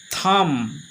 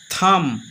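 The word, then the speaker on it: thumb: বি এর উচ্চারণ হলো না। যেমন টি এইচ ইউ এম ভি আমরা থাম বলবো না। বির উচ্চারণ হবেই না। এখানে উচ্চারণ হবে থাম। থাম।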